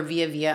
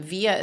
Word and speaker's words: Vija: Or Vija on Instagram. Vija is spelled V-I-J-A. The J is like a Y.